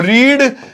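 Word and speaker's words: read: एक और लिख लो, इसमें रीड लिख लो, रीड, रेड, रेड। हालांकि इसकी प्रोनाउंसिएशन अलग है, वो इसलिए कैटेगरी में नहीं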